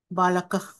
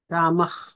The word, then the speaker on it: visarga: So some shakhas pronounce it as a soft h, balakah, ramah. Okay, some people actually add a little echo to it. So it's balakah, ramah, and so on.